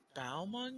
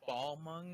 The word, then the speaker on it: Balmung: Jared, how do you pronounce the name of the Final Fantasy server that we play on? Balmung, you fucking. Okay. Oh my god. Or I guess Balmung if you've got some like weird bad attack that like.